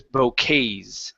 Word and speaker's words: bouquets: The word is bouquets. It's a French word.